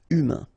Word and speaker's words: humain: Humain, remember. H is not pronounced. A-I-N, un. Humain.